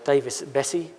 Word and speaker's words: Davis-Besse: The first one here in America, the Davis-Besse facility. Greg would be happy because I pronounced that correctly.